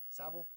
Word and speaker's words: Savile: He looks like every single Jerry Savile, rhymes with gravel, Savile.